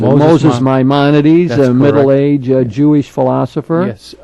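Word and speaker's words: Maimonides: greatest philosopher of Judaism Moses myones that's how I usually pronounce it Moses myones a middle-age Jewish philosopher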